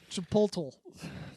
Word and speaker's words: Chipotle: You mean the right way to say it? Chipotle.